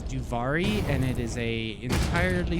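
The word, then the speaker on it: Duviri: Read Delvieri? Yeah, What is Delvieri? Well, it's spelled slightly improper there, but it's Duvari, and it is a entirely separate world that Hans loves to farm the weapons in Warframe.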